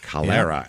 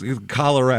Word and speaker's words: Calera: and this is Cera Alabama how do you spell that CA l e r a kalera Alabama and almost like the disease it's kalera Alabama let's go everybody any other uh Oregon